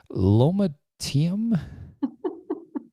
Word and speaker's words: lomatium: Lomatium dissectum extract. Is that what LDM stands for? So the way to pronounce it is lomatium.